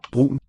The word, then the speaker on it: brun: there's a little catchy quality in there. Brun. I think it's a thing called stød. Whatever it's called, some words have it, some don't. Nothing in the spelling indicates it, so you have to memorize where it belongs.